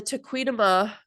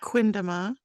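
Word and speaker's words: Tequendama: Yeah, the Tequidama, whatever. Tequindama. Tequindama, thank you.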